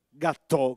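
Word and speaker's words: gattò: Noi invece a Napoli lo chiamiamo gâteau con l'accento sulla O, e della forma rotonda, manteniamo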